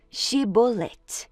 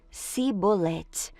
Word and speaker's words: chibolete: homem negasse eles o mandavam dizer chibolete se ele era de Efraim dizia sebolete pois o povo de Efraim não conseguia pronunciar essa palavra corretamente então eles o capturavam